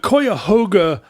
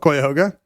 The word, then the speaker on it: Cuyahoga: Did you know, by the way, that you can pretty much use any vowel for the first syllable of Cuyahoga? Webster's recommends Cuyahoga first, followed by Cuyahoga, schwa, yeah. Cuyahoga, and Cuyahoga. Cuyahoga. So your options are I, and O.